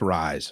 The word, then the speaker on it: Ryzen: for the BS I I believe I pronounced it ra like raise but it's not it's rise revise Put a Spell with